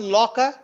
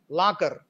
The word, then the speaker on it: locker: Look at this one, locker, law, or rounded. And the final R is weak, aw and er. So you have to, in the Telugu way of speaking or pronouncing this word is lakar, la. We make it strong, but it should be rounded, la, okay.